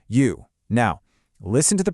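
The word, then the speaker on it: 余: For instance, take the character for fish, which is pronounced you.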